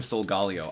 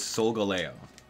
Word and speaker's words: Solgaleo: I keep on calling him Solgaleo. I found out earlier that it's the actual pronunciation is Solgaleo.